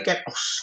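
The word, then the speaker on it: κενός: Kenos bacanya kenos gitu ya. Kenos gitu ya. Bisanya kenos gitu. Ken stripos bacanya kayak gitu.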